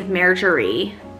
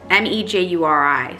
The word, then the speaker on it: Mejuri: So the first one is Marjorie. I think that's how you say it. Mejuri, M-E-J-U-R-I. So Mejuri.